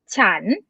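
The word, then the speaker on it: ฉัน: write or not and according to the tone rules you're supposed to pronounce with rising tone chan chan but now thai people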